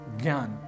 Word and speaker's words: ज्ञान: पर देख लेते हैं पहला शब्द है ज्ञान जो बना है ज ञ आ न और अ इन